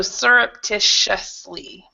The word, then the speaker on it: surreptitiously: pronounce ctitious well actually the second T is a a sh sound because we've got the a t o which is usually a sh so so surreptitiously so that that is